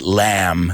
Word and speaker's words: lamb: in Spain as well but that be I don't want to hear it so say it with me guys lamb just imagine that letter that excuse me that word without the B in it I